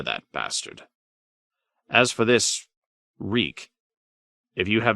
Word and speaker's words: Reek: my lord your man I'm reek it rhymes with sneak it does when my